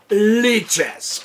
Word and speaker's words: Lichess: what anyone else says I'm going to collect leeches okay the chess site mich ESS i think